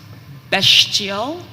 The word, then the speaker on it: bestial: information concerning best chill bestial could also be pronounced bastille it is middle